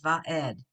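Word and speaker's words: וָעֶד: Before you said yeah, like a yud, but if it's an ayin, all you hear is that vowel under there. So it's va'ed. It could be E, A, but it's just that vowel because it's a silent letter.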